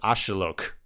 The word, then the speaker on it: axolotl: likes now that's that's a massive mispronunciation apparently oh that's why I can't can't pronounce it apparently it's a lot closer like this is still like apparently a regional variant and I'm sure I'm mispronouncing it still apparently it's a lot closer to ashilok kind of makes sense